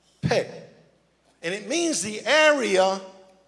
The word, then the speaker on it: Pei: So the 17th letter in the Hebrew alphabet is the letter Pei, P-E-Y, you would pronounce it P-A-Y, Pei.